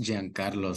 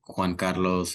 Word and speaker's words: Giancarlo: It's pronounced Giancarlo, so it's Italian. So typically I'll get like Juan Carlos or just Carlos or